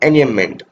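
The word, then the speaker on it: enjambment: है, हर लाइन में एनियमेंट ही है देखा जाए तो, इसको एनियमेंट भी पढ़ते हैं क्योंकि ये जे साइलेंट हो जाता है, एनियमेंट, ठीक है।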